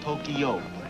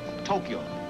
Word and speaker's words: Tokyo: it is not pronounced Tokyo it is pronounced Tokyo two syllables Tokyo Tokyo Tokyo thank you